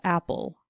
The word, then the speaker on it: apple: Our next word was apple. Again, we hear the stress on the first syllable.